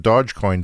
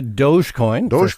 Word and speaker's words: Dogecoin: because people say that dodge coin is going to go up because of his appearance and it already is going up yeah uh dogecoin i think is the pronunciation doge and it's just another